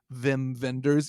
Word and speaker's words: Wim Wenders: i also feel weird i know that's how you pronounce his name vim venders even though it's spelled wim winders so i don't know